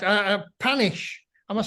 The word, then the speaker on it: Panesh: doing all right uh panish I must say any right um yes I know the actual pronunciation is panache yeah which I only